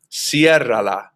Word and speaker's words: ciérrala: And notice that the accent mark is put on the E to preserve that pronunciation. Otherwise, it'd be pronounced with the stress on the second to last syllable, which is that A right there, and that wouldn't sound right. Ciérrala doesn't sound right.